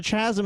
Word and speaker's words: chasm: it's like, yeah, but there's probably there's a chasm in that.